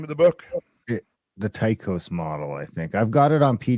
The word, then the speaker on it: Tycho: And from my scholarship days, I recall that Tycho was actually pronounced Tycho.